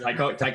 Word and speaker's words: Taika: like kind Gunn of or copy and pasted Taki in a way. Waititi. I feel like James Gunn, Taki Waititi. I can never Yeah, say his name right, so I apologize. Taika Waititi, Taika Taika Waititi.